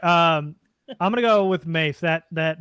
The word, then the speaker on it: Mafe: Pretty sure it's Mafe. I'll double check that right now. Boye Mafe. I just highly doubt it's Mafe. But it should be. I'm gonna love it. It's Mafe. No, I understand that, but if you think of any language origin and pronunciation, I'm listening to Goodell. Oh, the last name is pronounced Mafe though.